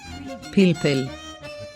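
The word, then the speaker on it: פלפל: Has three nikud signs. Chirik. The nikud sign, for pronouncing a short E sound, as in the E, of igloo. We find it under the first letter P.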